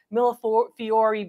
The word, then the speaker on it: millefiori: Some of you like to have me pronounce that last sound, millefiori beads.